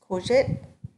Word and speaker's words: Courgette: It's courgette. That's how you say it.